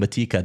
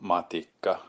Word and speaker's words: Matikka: And we were saying Matikka, that's not right. Matikka is not right either. Both of those are wrong. I'm hearing broadcasts saying Matikka, that's not correct. Here, thank you, Timo Seppa, I should say, is the proper pronunciation of the name. Miko Matikka. Miko Matikka. The pause blows me away there, right? And he said it. He said it's almost like 2 words, Matikka.